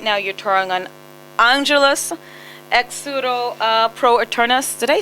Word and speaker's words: Angelus Exuro pro Eternus: Because right now you're touring on Angelus Exuro Pro Eternus.